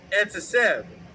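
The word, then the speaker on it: עֶצֶב: And that pronunciation was etzesev.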